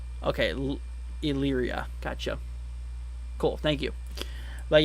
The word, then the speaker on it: Elyria: See, it's pronounced Elyria. Okay, Elyria.